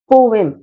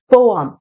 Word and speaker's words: poem: पहला प्रोनाउंसिएशन है British pronunciation, जो कि है पोएम, पोएम, पोएम। और दूसरा प्रोनाउंसिएशन है अमेरिकन प्रोनाउंसिएशन, जो कि है पोअम, पोअम, पोअम। यही दो करेक्ट प्रोनाउंसिएशन है जो ऑफिशियली एक्सेप्टेड है, राइट।